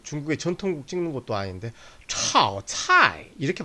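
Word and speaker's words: 炒菜: 炒菜, 炒菜. 삼성은 단독으로 과장되게 발음하는 경우를 제외하고는 반삼성으로 발음된다고 그랬습니다.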